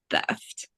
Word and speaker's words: theft: letters like the E it can it can be pronounced as e or uh so like theft or thft so thft is wrong and you're going to want to say theft okay the stuff you